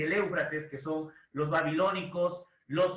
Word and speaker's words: Éufrates: trisis El Nilo eufrates éufrates creo sí es éufrates así se pronuncia éufrates practique por favor éufrates diga en voz alta éufrates así se pronuncia